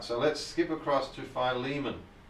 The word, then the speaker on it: Philemon: No, not Filimon. Uh, well, I'm going to call him Phileiman.